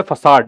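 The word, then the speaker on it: façade: Next पे आइए, 104, 104 है फसाड, इसका प्रोनाउंसिएशन फैकेड नहीं है, फसाड है।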